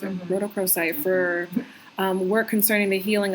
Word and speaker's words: rhodochrosite: life um this particular Stone combines well with rhodochrosite that's how you pronounce it rhodochrosite for work concerning the healing of the inner